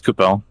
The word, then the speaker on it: Coupal: No, it's Coupal.